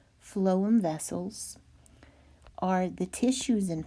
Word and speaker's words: phloem: pronounce phloem for you in a sound spelling it is flow flow phloem vessels are the tissues